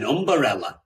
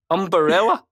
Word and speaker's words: umbrella: i would ask you you put an extra syllable in there an umberella yeah is that no umbrella that's right yeah i just got